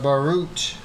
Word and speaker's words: Barhout: So yeah, check out the cave of Barut, which is spelled Barhout.